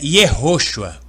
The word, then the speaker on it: Yehoshua: Então, a pronúncia é Yehoshua, com o acento. Então, os irmãos podem examinar profundo por que a pronúncia tem que ter o acento Yehoshua, a pronúncia correta.